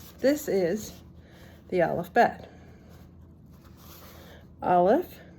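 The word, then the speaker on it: אָלֶף: Aleph is silent, without a vowel. We'll talk about vowels a different time because that is interesting. So Aleph is silent without a vowel.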